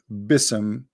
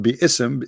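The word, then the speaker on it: بسم: Yet Allah he do not know how to pronounce the word Bism. The word Bi-ism became Bism. In Arabic, we don't have bism, we have bi'ism.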